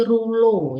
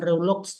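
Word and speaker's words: rouleaux: Kemudian formasi rulo, ya, bacanya bukan Reulux, tapi rulo.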